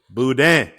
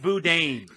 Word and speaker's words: boudin: Boudin. Boudin. That what? That Boudin. damn. That damn. And it's sure in the hell ain't Boudin.